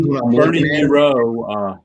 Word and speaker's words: Moreau: Everybody's Bernie Moreau rhymes with zero.